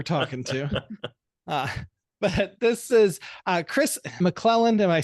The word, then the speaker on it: Kris McClelland: But this is Kris McClelland.